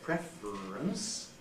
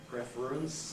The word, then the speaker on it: preference: the last example uh from preference babic consonant formation we get preference preference three syllables still that can then compressed into preference two SS now this